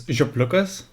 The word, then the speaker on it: Ziopliukas: The original pronunciation is Ziopliukas, but no one can pronounce that.